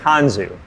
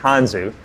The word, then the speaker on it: Tanzu: got to tell you it's actually pronounced on zoo all right not Tanjung but on zoo and tansu is a